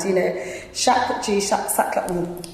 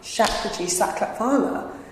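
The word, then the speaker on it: Shapurji Saklatvala: Shakraji Saklat, let me say his name right. Shakraji Saklatvala was elected here in the 1920s as the first Asian MP.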